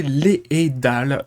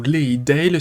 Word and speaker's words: Leadale: Donc oui, ça va se prononcer Leidal, ou Leidale si vous voulez éventuellement, j'ai repris la prononciation qu'il y avait dans l'animé.